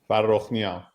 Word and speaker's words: Farokhnia: I'm joined today with Naeem, and it's Farokhnia. Close enough. Yeah. Close enough. How would you pronounce it? Farokhnia.